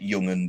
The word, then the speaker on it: Jugend: Because again, in like German, a J is a Y, like Junkers is actually Junkers in German, for example. Like Jugend is, yeah, like Jungen, like the Hitler Jugend was like the Hitler Jugend.